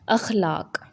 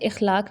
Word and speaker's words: اخلاق: پاس اس حوالے سے اخلاق۔ لفظ اخلاق نہیں ہوتا، اخلاق ہوتا ہے۔ الف پر زبر، خے پر جزم، لام پر زبر اور الف اور